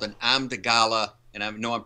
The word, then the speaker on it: amygdala: And there's a thing in the back of the children's brain called an amygdala, and I know I'm pronouncing it wrong. Amygdala, yeah.